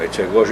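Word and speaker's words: Etchegoyen: Como também agora li um outro artigo do general ainda da ativa, general Echegóien. Bom, Echegóien é a pronúncia argentina, Echegóien, provavelmente, que a respeito do seu próprio pai também, que foi incluído nessa lista de torturadores.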